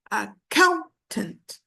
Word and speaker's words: accountant: accountant or accountant no it's accountant the stress is on the second syllable okay what I want